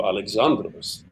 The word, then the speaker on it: Alexandros: I wanted to say that Alexandros, accent on the second syllable. It's hard for American people. Alexandros. I want to go Alexandros, but no, it's Alexandros.